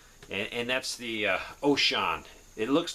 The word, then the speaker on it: Wouxun: help people program and and that's the uh ocean it looks like it's called waon but it's actually pronounced ocean and this is the kg uv2